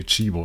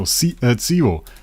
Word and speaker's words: Tsibo: And then Skalita, of course, wonderful choice by I wanted to say Chibo. No, Tsibo. I think the pronunciation is Tsibo.